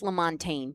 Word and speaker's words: LaMontagne: Just LaMontagne. LaMontagne. Don't say the G.